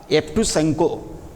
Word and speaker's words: Yevtushenko: It is just a kind of reminiscence that here the Russian writer, see the spelling Yevgeny, that is Evgeny, then Evtushenko, Yevtushenko. So, this is pronounced as Evtushenko.